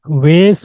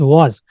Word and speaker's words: vase: To peacocks woven on silk SIP from the was, this is pronounced एज वॉज, not vase or vase or something like that. This is pronounced as was.